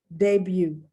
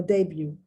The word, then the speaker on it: debut: t is not pronounced debut once again friends the t is not pronounced debut no debut axe acts you know